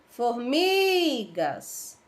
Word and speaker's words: formigas: Formigas. Formigas. Qual foi a sílaba que se esticou aí, que ficou maior? Ó, formigas. Foi o mi, né? Foi a sílaba mi.